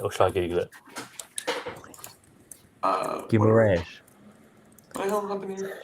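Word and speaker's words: Guimarães: Well, it's actually more Guimaraes, like you said.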